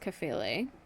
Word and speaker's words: Kephalē: in this, again, the Greek word here is Kephalē. Nice pronunciation. Thank you. It's like you listened to a video right before we started shooting. Well, I listened to you the whole time we were. Kephalē.